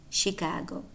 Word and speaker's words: Chicago: So they are spelled CH, but remember that some words, a small number, but important to know, are not pronounced ch, but sh. And these words are exactly words that exemplify that exception, namely chef, Chevrolet, and Chicago, pronounced sh.